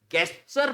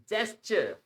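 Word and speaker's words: gesture: dessert desert dessert okay गचर पढ़ते हैं इसको नाउ इट्स जी के आगे जहा भी ई आता है ना इसका साउंड ज होता है इट्स जेस्टर जचर जेस्चर नॉट गचर so language के बंदे हैं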